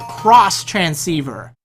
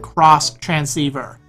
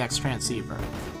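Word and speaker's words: Xtransceiver: to give you your cross transceiver now the item is spelled out X transceiver but don't be a noob because it's pronounced cross transceiver although I'm guessing probably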